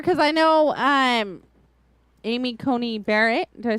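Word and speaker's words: Coney: I know um Amy Cony Barrett did I say her name right I think con con like con Island she had I or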